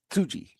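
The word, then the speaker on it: Tsuji: Suji. The T is it's not silent, but it's like very faint. Got it. Tuji, but uh the smiling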